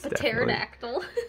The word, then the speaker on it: pterodactyl: Aerodactyl up there is pterodactyl no there's no pee in it it's Aerodactyl there's a silent p invisible oh that's so cool